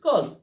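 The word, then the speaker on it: cause: কেন তখন তাহার উচ্চারণ এ ইউ একসাথে থাকলে ও হবে এ ইউ এর উচ্চারণ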